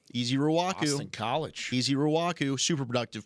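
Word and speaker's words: Ezeiruaku: easy I'll allow that does anybody have a pronouncer easy Raku easy Raku easy Raku College easy Raku super productive player Works he's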